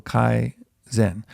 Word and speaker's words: Kaizen: And it's not this Zen, so not the Mahayana Buddhism kind of Zen, but it's the same pronunciation. So Kaizen.